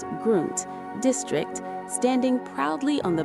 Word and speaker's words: Grund: In the heart of the Grund, pronounced Grund, district, standing proudly on the banks of the Alzette River is the Neumünster Abbey.